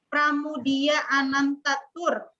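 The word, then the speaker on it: Pramoedya Ananta Toer: Pramudia Anantatur. Tulisan nama aja di sini bukan pramu, itu pakai ku, tapi moe. Pramudia Anantaturnya juga bukan ku juga. O dan E dulu pelafalannya itu ku.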